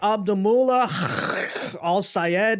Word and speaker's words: El-Sayed: Well, tonight, Abdul El-Sayed, which is how he has asked us to properly pronounce his name, but that is, of course,